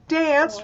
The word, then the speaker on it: danced: When we say danced, we danced all night. Did it add an extra syllable? No. No. Dance did not add an extra syllable. I will dance with you. I danced all night. It's the same one syllable. I danced all night. So it's just one syllable.